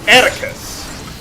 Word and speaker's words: Attacus: But anyway, this is Attacus. Rhymes with abacus, I guess.